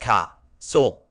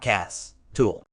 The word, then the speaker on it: castle: pronunciation the in Castle is silent so it's pronounced as C Soul not Cass tool castles have captured our imagination for centuries appearing